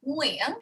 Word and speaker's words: Nguyen: back there like Nguyen, whereas the N in English is on the tip of your tongue, right? Like Nancy, right? So it's total opposites, really, which is why when people always ask me, how do you say your last name in English? You literally can't because they're just different worlds, right? But yeah, so just aim for the back of your throat, Neil, and just go, Nguyen.